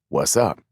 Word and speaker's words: WZUP: fictional radio station with the call letters WZUP, pronounced what's up.